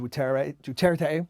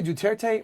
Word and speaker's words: Duterte: this odd thing where the US pronunciation eliminates a syllable but the rest of the world uses all three so it's very odd